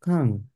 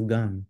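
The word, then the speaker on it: 강: Yes, so this is pronounced as Kang. Why don't we pronounce it as Gang? Anyway, why don't we pronounce it as Gang? I want to say Gang. Can you hear me? Come again, Ashley? Why isn't it Gang? Gang with a G. It's Kang with a K.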